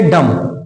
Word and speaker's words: डम: ये देखें, ये डम, क्या है? डम है, बी साइलेंट।